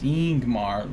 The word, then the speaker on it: Ingmar: and not usk grim ingmar is pronounced ingmar leading with a vowel sound so we have now